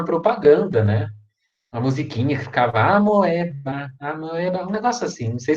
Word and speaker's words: Amoeba: né mas é amoeba se escreve amoeba mas a leitura é a merda é merda olha tem onde ir ameba beleza a única coisa